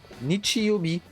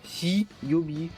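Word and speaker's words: 日曜日: Et là, on le prononce Nichi, Nichi-yobi. Et pas hi-yobi ou ka-yobi. Parce que ka-yobi, c'était le mardi.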